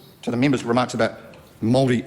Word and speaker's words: Māori: That so often, to the member's remarks about Māori and Maoridom, if I pronounce it correct. Oh, he actually got it correct.